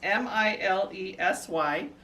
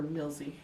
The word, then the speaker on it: Milesy: up really good it's m-i-l-e-s-y um it's well i pronounce it milesy no that's fine well don't just whisper milsie in my word because millsie would be m-i-l-l i'm supposed to catch